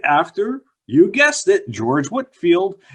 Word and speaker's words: Whitefield: you guessed it george whitefield except they happen to spell it the way it sounds uh interestingly enough and